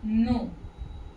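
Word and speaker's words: know: जैसे आप लोगों ने इंग्लिश में पढ़ा होगा नो, वैसे इसका इससे कोई मतलब नहीं है, फिर भी मैं बस एक बता रही हूँ कि नो जब पढ़ते हैं हम तो के साइलेंट रहता है ना।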